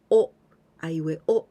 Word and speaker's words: を: hiragana is this one we pronounce w and o sound wa but actually we use this one only for the particle and when we use for the particle even we write like this but the pronunciation is usually o o the same pronunciation as o but this is used